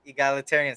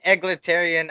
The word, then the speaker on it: egalitarian: of double team egalitarian there we go egalitarian see i said it right uh he got it right my bathroom was called egglitarian i always said that bro i don't know i got used to it for like six